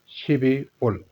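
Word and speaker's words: 십이월: है जी दिसंबर का 12 को कहते हैं शिप लेकिन यहां प्रोनंसिएशन रूल की वजह से लस बोला जाएगा शिबल शिवी ल कहते हैं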